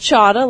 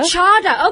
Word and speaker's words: Cada: But it's pronounced Chada, like Prada. Chada.